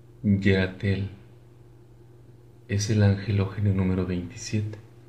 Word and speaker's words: Yerathel: Si has nacido del 3 al 7 de agosto, tu angelogenio es Yeratel. Su nombre significa Dios que castiga a los malvados. También se puede pronunciar Irat. En arameo se pronuncia Yud Resh Tav.